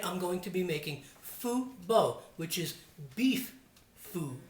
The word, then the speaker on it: pho: But tonight I'm going to be making Vietnamese Pho Bo. Now here in the States a lot of people pronounce it pho, and that's not how it's pronounced. It's pho or pho, and it's the food of the people in Vietnam.